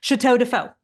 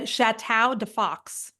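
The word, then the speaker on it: Château de Faux: name the painting company Chateau defo which means House of fake in French but I thought Chau Deo was a lot of fun okay turns out thank God I didn't do that because who would have been able to a pronounce that they would have said chatow def Fox is what they would have said okay they would have said Chow to Fox and then they would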